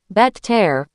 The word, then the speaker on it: better: We say better, like bedder.